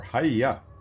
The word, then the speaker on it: hyy: This is going to be High, or Hiya, is what I've now been told by Game Friend, is how you pronounce his name.